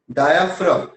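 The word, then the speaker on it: diaphragm: Dark colour डायाफ्राम। जी silent होता है इसमें। ठीक है।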